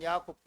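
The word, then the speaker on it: יעקב: 히브리어 발 히브리 발음은 야코프 야곱 그의 이름의 뜻은 뭐냐면 발꿈치를 잡는 자 속이는 자라고 하는 뜻을 가졌습니다.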